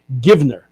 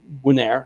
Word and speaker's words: Givner: I believe David's pronunciation is David Givner, not Winair.